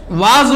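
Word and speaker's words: was: जैसे डब्ल्यू ए एस वाज होता है, वाज इसे पढ़ते हैं, जिसका मतलब था, थे, थी, जो हिंदी में होता है बीता हुआ।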